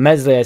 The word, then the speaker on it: Meslier: There was a lot of stuff said about Meslier, Silent S, that ball, that terrible ball into Ampadu.